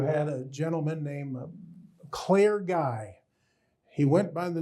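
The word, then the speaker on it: Gaey: mail for guy two guys would butt heads they'd walk up they butt heads because the other fellow's from Louisiana he had a Cajun name g AE y pronounced guy so the next day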